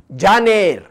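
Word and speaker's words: Jun: पयलो म्हयनो जानेर. स्पेलिंग पळया, जे ए एन ई आर, जानेर, जानेवारी.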